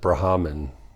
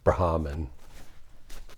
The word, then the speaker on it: Brahman: Hindus uh pronounce it brahaman it seems like you just lightly touch on the H brahaman anyways uh so this